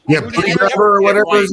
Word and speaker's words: Buttigieg: I think you said it right too. Like that's Buttigieg. Yeah, Buttigieg or whatever his name is.